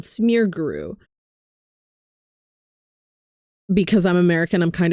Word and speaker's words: Smeargle: Um, I found out about smearguru, which is smeargle, but uh it's a variant of smear gole called smearguru because I'm American.